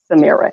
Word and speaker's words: Samira: today i'm really excited for us to welcome samira and let me know if i'm saying it correctly yes you are fine it rhymes with the mirror samira you're perfectly thanks taylor for having me yes